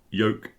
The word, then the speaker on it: yoke: Three different sounds, and the ch, the last one, is an unvoiced version of the j on the first one.